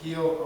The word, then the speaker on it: Rio: Brazil, I go to Rio, they pronounce it heel, and R at the beginning of the word. In Portuguese it's pronounced as an H.